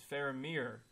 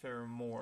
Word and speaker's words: Faramir: wrong this whole time it's faramir not farore yeah I don't know